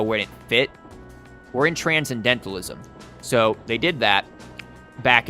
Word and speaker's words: transcendentalism: transcendentalism you daft bastard also it would help if you learn how to pronounce transcendentalism he's like Tran Ken dented ism like the [ __